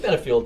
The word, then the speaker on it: Benefield: Benefield, right?